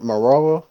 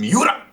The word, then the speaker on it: Miura: Kentaro Marawa, I don't know how to say his name. Uh, Maybe Kentaro some of you guys. Miura.